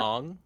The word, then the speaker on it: Aang: Bobby, sorry, Ev, it's pronounced Yeah. Ong.